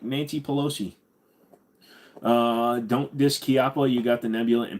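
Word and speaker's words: Chiappa: but it's actually pronounced kppa a lot of people people will say chiapa but it's actually Italian and Italian it's a hard C so it's kppa kppa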